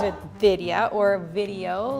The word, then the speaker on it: Vidya: That is how I teach white people to say my name. Like, it's video, but but Vidya. Vidia. Yeah, but that won't give them to do like the DH sound.